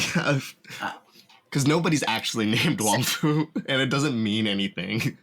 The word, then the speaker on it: Wong Fu: Pronouncing that right, Wong Fu? Yeah.